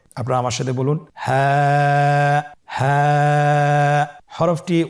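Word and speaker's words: ه: হ্যাঁ হা হরফটি উচ্চারণ ক্ষেত্রে অবশ্যই বারিক হবে এবং 1 আলিফ টেনে পড়তে হবে। আপনারা আমার সাথে বলুন হ্যাঁ।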